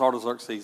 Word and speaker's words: Artaxerxes: my dyslexic mind, when I read that, I want to say something else, but I know that it's Artaxerxes, and so I have to remind myself.